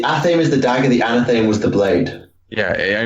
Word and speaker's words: Anathame: Yeah, it's Anathame. Anathame is the Athame is the dagger. The Anathame was the blade.